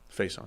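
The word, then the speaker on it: Facyson: they do I believe his name is pronounced Faison face on with a Saxon C I guess face yeah I've gotten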